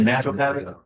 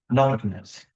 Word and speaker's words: nattokinase: Some people say natural kinase. What's the fellow's name over in Dillingham, this Japanese fellow? Fred Nishimura? Yes. Oh, So Fred taught me the proper way to say it. It comes from the natto plant. And it's nattokinase.